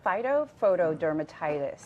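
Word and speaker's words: phytophotodermatitis: it's a very official name how do you pronounce so it's called phyto foto dermatitis okay so these photos are from the Centers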